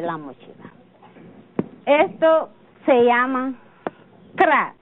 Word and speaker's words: kra: ahora para hacer la mochila esto se llama kra y se escribe K r a a se le llam cra pero en idioma de español se llama mochila